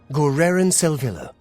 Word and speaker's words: Garridan Selvil: And thanks to a voice line from Oblivion, we actually know how to pronounce that name. Garridan Selvil.